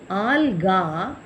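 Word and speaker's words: algae: ஆல்கா, ஏயில் முடிகிறதெல்லாம் ஏன்னு நம்ம கடைசியில் ஒரு ஈ போட்டு உச்சரிப்பு ஆல்கே அப்படி முடிக்கணும்.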